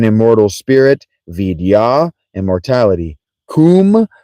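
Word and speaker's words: Koom: Kum pronounced pronounced like the Welsh kum denotes something of a hollowess.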